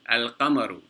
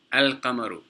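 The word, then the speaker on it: القمر: So you pronounce the sukoon on the lam, such as al-qamaru. You see the sukoon on the lam? You pronounce that, al-qamaru.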